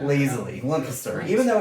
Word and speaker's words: Lancaster: Lancaster.